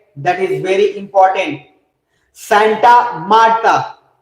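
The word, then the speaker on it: Santa Marta: तो सबसे पहला लिखिएगा कोलंबिया के अंदर, और वो जगह है that is very important, सेंटा मार्टा। वैसे सेंटा मारते नहीं है, लेकिन फिर भी सेंटा मार्टा लिख लीजिए, सेंटा मार्टा।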